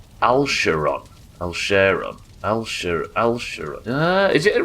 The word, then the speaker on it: Alcarion: Al, share, on was the original pronunciation, but the hard K that a lot of people use I'm getting used to. For instance Alcarion. Alsheron.